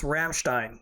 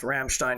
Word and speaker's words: Ramstein: throwing stuff at the screen and because it's Ramstein is the way it's pronounced Ramstein Air Force Base and then they they screwed